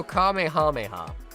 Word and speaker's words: Kamehameha: I say it like kame hameha. Kamehameha. I don't say kamehame.